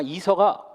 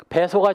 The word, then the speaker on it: 배서: 배설하고 해야지 이설하고 하면 안 되거든. 이설은 일본식 한문이고 우리나라 말로 치면 등배자를 써가지고 배설하고 해야 되는데 배설한 말은 점점 줄어들고 다들 이설하고 그래. 아마 이서가 발음이 좀 편한 모양이지. 배서가 정확한 말입니다.